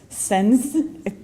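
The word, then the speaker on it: Sáenz: Sens, thank you.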